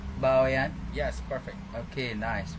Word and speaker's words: Bawean: Is it true that I say Bawean? Yes, perfect. Okay, nice, right. I never pronounced this word before, so sorry for every mistake that I made in this video.